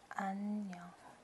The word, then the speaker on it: 안녕: And you, if you want to pronounce it, it's 안 안녕. 안녕.